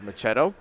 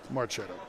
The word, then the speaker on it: Marchetto: to one now for machetto marchetto get it right marchetto sorry get a medalist you